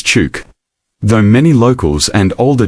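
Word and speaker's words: Chuuk: The place long called truck came about when German visitors in the 1800s struggled with the native name and began pronouncing it as truck. In recent years, there has been a move to restore traditional names. So today, it is also known as Chuke.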